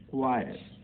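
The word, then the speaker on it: choir: क्वायर, क्वायर, क्वायर में गायक मंडली, तो क्वायर में H जो है साइलेंट है, इसका भी यहाँ देख लीजिए।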